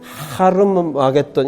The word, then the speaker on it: 하르마겟돈: 이 아마겟돈 찾아보면 발음도 틀렸어요. 아마겟돈이 아니고 네. 헬라어의 이 러프 브레팅은 하르마겟돈 이렇게 발음을 해야 돼요.